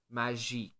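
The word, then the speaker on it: Kmagic: it is a dash magic that's with a silent k at the beginning so a Das k m a g i c okay so this this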